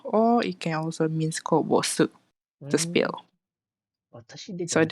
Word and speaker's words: こぼす: So it means it is pronounced as kobosu.